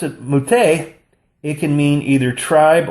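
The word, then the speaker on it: מַטֶּה: But if you pronounce it Muteh, it can mean either tribe or support.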